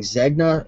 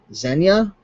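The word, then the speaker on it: Zegna: B for your information the g is silent pronounced so instead of it being zna it's Zen zenya that's interesting let's see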